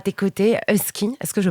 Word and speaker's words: Usky: Enfin, à tes côtés, Husky, est-ce que je prononce bien ?